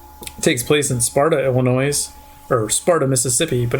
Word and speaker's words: Illinois: Not pronouncing the S. Illinois. There's an S. I don't. Illinois. It's Illinois from now on.